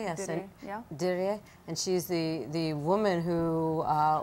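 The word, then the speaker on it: Dirie: I pronouncing her name correctly? Yeah, yes. Diri.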